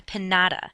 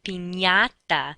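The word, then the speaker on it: piñata: party is not a pinata that's not what the candy falls out from it is a Pata that NY sound sort of like how we pronounce lasagna n y okay the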